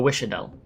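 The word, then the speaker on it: Wiš'adel: Oh, Wishadel.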